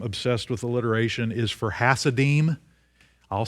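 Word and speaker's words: Hasidim: with alliteration is for hassadim i'll spell it and this is what they were actually called i didn't make this word up h-a-s-i-d-i-m the hassadine h-a-s-i-d-i-m it sounds kind of like hasidic are you familiar with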